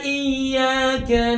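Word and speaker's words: إِيَّاكَ: Seterusnya, Iyyaka na'budu wa iyyaka nasta'in. Pada saat membaca ayat ini ada kesalahan yang lazim terjadi, yaitu tidak mentasdidkan huruf iya.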